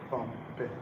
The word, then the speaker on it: compare: is a verb and if you have a verb of two syllables the stress falls on the right syllable compare is it not true